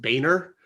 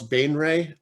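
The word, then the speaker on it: Baenre: The one that throws everyone is House Bainley. Which is sometimes pronounced Boehner, but I don't know about that. Or House Bainray, but I always wanted to do it with like the French.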